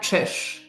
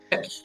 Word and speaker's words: Czyz: Can you pronounce it again? Your full Yeah, name? it's Trish. Trish. Okay. Trish.